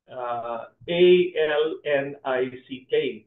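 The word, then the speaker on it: Alnwick: A-L-N-I-C-K. But it's pronounced Alnick Castle, no?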